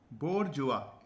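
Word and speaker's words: bourgeois: बोरजुआ, इसकी स्पेलिंग अलग है, इसका प्रोनाउंसिएशन अलग है, मगर हम इंडियन स्टाइल में पढ़ेंगे बोर्जुएस, ठीक है, या बोर्जुआ, की स्पेलिंग में मिस्टेक ना हो।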